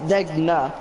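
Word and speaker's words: Degner: Degma, not Degna. It's Decna, isn't it? Degna. Yeah, it's Degna. Yeah. But I pronounce it Degma.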